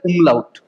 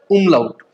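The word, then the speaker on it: Umlaut: ठीक है, पहले ये जो डॉट है ना, डॉट, इसको बोला जाता है उमलाउट। ठीक है, क्या बोला जाता है? उमलाउट।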